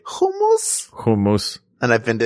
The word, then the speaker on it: hummus: Hummus. Are you one of those guys that pronounces it hummus? That's how we say it in Israel.